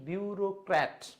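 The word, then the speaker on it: bureaucrat: যে যারা সরকারি চাকরি করে এবং ডিপার্টমেন্টাল রুলসকে অন্ধভাবে মনে করে, মানে অন্ধভাবে অনুসরণ করে, তারাই হচ্ছে আসলে এই বিউরোক্র্যাট। উচ্চারণটা বলেন বিউরোক্র্যাট, বিউরোক্র্যাট, বিউরোক্র্যাট।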